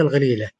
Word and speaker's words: الغليلة: وموجود منطقة أثرية مهمة لكن في لبنان ينطق بالقاف وفي صور ينطق بالغين.